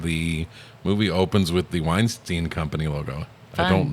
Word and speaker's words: Weinstein: movie opens with the Weinstein Company logo. I Fun. don't know why it's pronounced Weinstein, since it's two syllables that are spelled the same way. That's always bothered me. It should be Weinstein.